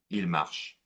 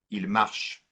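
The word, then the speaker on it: marchent: The N and the T are silent. Il marche, just like in the third person of the singular.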